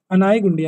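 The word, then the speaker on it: Anegundi: The initial capital of Vijayanagar was अनीगुंडी, एनीगुंडी, अनाईगुंडी, अनाईगुंडी, गलत लिखा हुआ स्पेलिंग।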